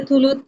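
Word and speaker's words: Thuluth: अब उसे सुलुस या तुलुत कहा जाता है। टी एच यू एल यू टी एच या फिर एस यू एल यू एस ये दोनों प्रोनाउंसिएशंस किए जाते हैं इसके।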